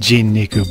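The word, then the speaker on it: 人肉: Well, normally those kanji would be pronounced jin-niku, but...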